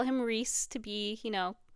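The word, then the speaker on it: Rhys: I said his name and I called him rice cuz that's how I was saying it in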